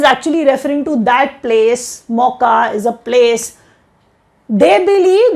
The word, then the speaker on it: Mocha: India's initiative to Myanmar hit by cyclone Mocha, Cafe Mocha, that is what Mocha is, and that is how we pronounce it.